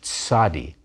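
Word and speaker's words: צ: end of a word not hard to pronounce you say it like the combination ts in english don't be fooled you will often see it translated into transliterated into english as a z but in hebrew it's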